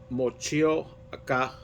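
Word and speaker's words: Motueka: a special type of hop here, and it's pronounced Mochioca hops. And it's a New Zealand hop with refreshing notes of tropical fruit and citrus. So it says here that it has flaked maize and Mocheca hops for a hint of lime.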